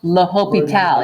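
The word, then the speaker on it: L'Hôpital: he's French Frenchmen that's how you pronounce his name laho Pete al you just put look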